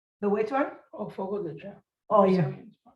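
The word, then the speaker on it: Fogo de Chão: How do you pronounce it? FOD de Chow? The which one? Oh, Fogo de Chao. Oh, yeah. How do you say it? Wait, how is it? Fogo de Chao.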